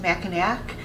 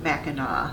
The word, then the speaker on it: Mackinac: and yes it looks like it should be pronounced mackinac and that's how a lot of people who don't live in michigan pronounce it but it is pronounced mackinac mackinac island's mission resort is said to be